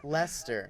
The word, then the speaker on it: Leicester: yeah la lai Chester close this is actually pronounced Leicester that's weird yeah Lester weird guys yeah a lot of these are